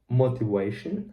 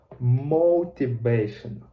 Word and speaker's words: motivation: app I realized that my pronunciation of O is wrong, and of V I need to say V. I was pronounced W. W is water, but I needed V, you know, like vital, for example. And I was pronouncing motivation, but as a result, the correct is motivation. You see, like not just O, but as go, O, like motivation, and not V, not W, but V, motivation.